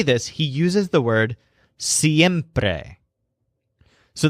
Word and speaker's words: siempre: he uses the word siempre so this word stresses a syllable that sounds like hemp without the H siempre now notice that the